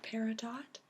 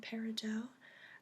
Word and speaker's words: peridot: personally prefer the pronunciation peridot because it comes from the French buddy da and so that ot sound is pronounced o was supposed to act